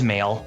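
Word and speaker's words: Mayl: seen the anime and i kind of forget how it's pronounced but it's like may with an l on it it is male because basically it's a play on words for male like emails well of course yeah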